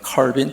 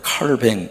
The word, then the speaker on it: 칼뱅: 사람이 지빙 거리 또는 칼빈 또는 칼뱅 그렇게 발음하기도 하고요 루터 그런 분들이 개혁에